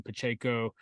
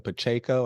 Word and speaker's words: Pacheco: So I think taking Pacheco with what he showed there in the end